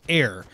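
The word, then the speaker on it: Aer: And it's, when I said it's Air, it's spelled A-E-R.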